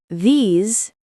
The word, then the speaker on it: these: And remember the pronunciation difference. This is short. These is long.